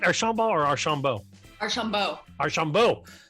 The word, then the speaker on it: Archaumbault: Archaumbault or Archaumbault?